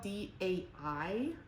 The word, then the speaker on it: daiquiri: I had a really hard time spelling daiquiri because it's spelled DAIQUIRI, but the AI makes an A sound, so it's daiquiri.